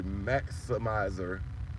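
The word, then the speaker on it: Mac'simizer: That shit say Maximizer, and it's spelled M-A-C apostrophe S-I-M-I-Z-E-R.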